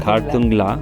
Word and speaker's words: Khardungla: Khardungla, if that's the way I can pronounce Yes, it. That's right. Khardungla.